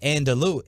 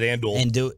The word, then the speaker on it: andouille: It's not, I don't believe, andalou. I wouldn't have known how to pronounce that. I would have said andouille. And it's not Fandul, okay? It's andouille sausage. DraftKings sausage.